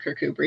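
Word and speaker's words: Kirkcudbright: everybody reading the book remembers to call it kirkuber even if they don't doesn't matter um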